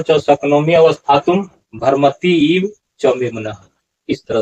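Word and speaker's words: भ्रमति: भरमति ऐसा भरमती नहीं है।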